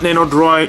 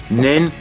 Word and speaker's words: Nendoroid: Not Nendoroid, not Nendo whatever. I always say it wrong. So, Nendoroid.